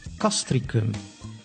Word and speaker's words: Castricum: C, the letter C, can be pronounced as an S, like in civil, which means civil, or as a K, like in Castricum, which is the name of a village.